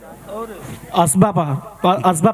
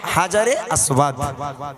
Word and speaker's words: হাজারে আসওয়াদ: আসবা পাথর। আসবা, একটু ভালো করে বলেন নামটা। আসবা পাথর। হযরতে আসওয়া। আসলে উনি হয়তো বলতে চেয়েছে, তবে ওনার উচ্চারণটা হয়নি। ওটার নাম হচ্ছে হাজারে আসওয়াদ, হাজারে আসওয়াদ।